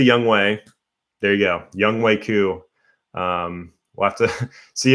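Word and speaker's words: Younghoe Koo: after this week team labong i know it's pronounced young wei ku but when it's spelled young hoku how can we not say it like that um but in respect to young way there you go young waiku um we'll have to see if his jersey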